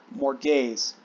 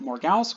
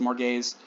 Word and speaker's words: Morgause: wife whose name is more gays a lot of modern adaptations pronounce it morgause which is fine that's closer to how it's spelled m-o-r-g-a-u-s-e or sometimes with